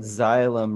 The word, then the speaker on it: xylem: another clue for some xylem rhymes with sky to the sky and phylum goes slow